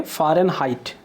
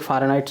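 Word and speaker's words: Fahrenheit: तो इसका स्पेलिंग क्या हो गया? CHAMPAGNE, champagne. फिर अगला है फ़ारेनहाइट।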